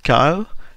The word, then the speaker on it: Kiel: double check with that the pronunciation was Kyle, is it? It is Kyle, yes, that's absolutely correct.